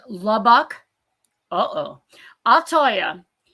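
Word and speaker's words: Lubbock: But um pronounced Labbak is labuk.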